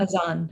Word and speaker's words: Adhan: Azan is how you say it, yes. And I think it's spelled Adhan, is that right?